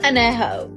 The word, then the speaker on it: Añejo: least you can do is learn how to pronounce the tequilas correctly. Blanca, Reposado, Añejo. What the fuck is Añejo?